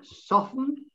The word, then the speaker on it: soften: Well, yes, it's virtually a silent T again, which, and then there's soften, silent T, and then watch.